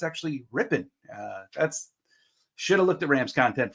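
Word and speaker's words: Rypien: going to be filling in yes it is pronounced rippen not like I said in the uh in the pregame preview that I did someone pointed out to me that it's not RI R in it's actually ripping uh that's should have looked at Rams content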